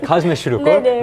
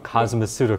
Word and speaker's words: cosmeceutical: 네, cosmeceutical. 한국어 발음으로, 영어 발음으로, cosmeceutical. 네.